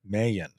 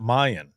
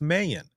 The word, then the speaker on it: Mayan: Mayan, not Mayan. I thought it was Mayan because it's spelled Mayan, but it's Mayan.